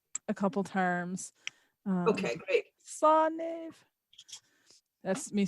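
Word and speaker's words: Slán: Slaniv.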